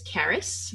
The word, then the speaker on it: Caris: daughter her name is Caris which rhymes with Paris and uh it's a